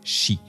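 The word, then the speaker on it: 四: En japonais, le chiffre 4 se prononce « shi », comme la « mort ».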